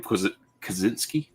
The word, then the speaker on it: Kaczynski: Kaczynski?